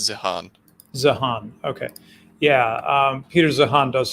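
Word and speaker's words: Zeihan: I've heard it pronounced both ways, but I think it's Zihan. Zihan, okay.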